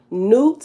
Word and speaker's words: Nut: hostos hepastos in greek newt is spelled as nut nut but it's pronounced newt newt and kemet is